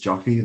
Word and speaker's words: Joffy: so last name is joffy like coffee but with a j but that was one